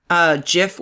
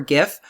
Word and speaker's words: GIF: this on the internet I honestly don't care which one you say Jif or gif but it is my